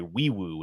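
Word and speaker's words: Nwaiwu: key additions R guard fichi we I'm sorry weu is how you pronounce his name uh if you look at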